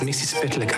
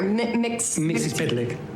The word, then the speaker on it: Mxyzptlk: I don't know who you are or how you got here, Mxyzptlk. It's spelled like it sounds.